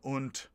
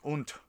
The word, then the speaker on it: und: american like sign being unt which is pronounced it looks like und but it's pronounced unt i think there's different